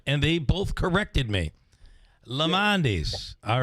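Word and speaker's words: Lemondes: It's Lamondis. Okay. Three syllables. Listen, I just said that, and they both corrected me. Lamondis.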